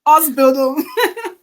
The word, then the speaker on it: Ausbildung: I need to pronounce this in the way Germans pronounce it. Ausbildung.